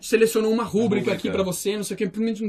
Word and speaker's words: rubrica: maluquice tona é e o assento é assim a sílaba tônica no brasil então é pública a palavra pública não existe palavra rubricas a errado e rubricas significa significa